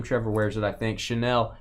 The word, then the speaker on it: Chanel: of women's perfume Trevor wears it I think Chanel it's actually CJ would tell me I'm saying